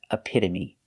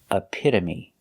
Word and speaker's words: epitome: a pitta a pitta the t is between vowels so it's pronounced with a d a fast d a pitta a pitta